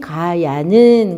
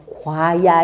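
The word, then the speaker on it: 過也: 자공이 왈 말하기를 군자지 가야는 그래서 과야 이래야 되는데 가야 이러죠.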